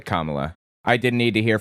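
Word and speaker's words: Kamala: Anyway, I didn't need to hear from Kamla. That's how her name is pronounced, by the way. Kamla.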